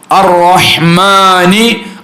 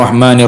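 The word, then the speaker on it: الرحمن: കൂടുതൽ ബിസ്മിയിൽ ശ്രദ്ധിക്കേണ്ട കാര്യം അതുപോലെതന്നെ അറഹ്മാനി എന്നുള്ളിടത്ത് അലിഫ് ലാം വിട്ടുപോകാൻ പാടില്ല ബിസ്മില്ലാഹി ബിസ്മില്ലാഹി റഹ്മാനി റഹീം ഞാനിപ്പോ അലിഫ് ലാം ചൊല്ലിയില്ല ബിസ്മില്ലാഹി റഹ്മാനി റഹീം ബിസ്മില്ലാഹി കഴിഞ്ഞിട്ട് റഹ്മാനി റഹീം അതുപോരാ അറഹ്മാനി അപ്പൊ ബിസ്മില്ലാഹി ആ ശദ്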